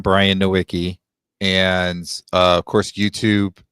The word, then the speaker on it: Nowicki: So my last name is Nowicki, Nowicki. It's Polish. It's actually supposed to be Nowicki, but nobody understands that's how you pronounce it.